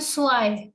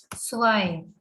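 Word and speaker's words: zwei: ions ions null ions 2 is called soil the red is having s sound so we say swine tree is called dry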